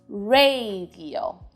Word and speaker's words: radio: different words in english the first a is replaced by an e e sound radio in spanish like i said earlier the vowels will always sound the same in this case ah radio in spanish when the r is at the beginning of the word it's considered a strong r and you know what that means it's time to roll the tongue radio can you turn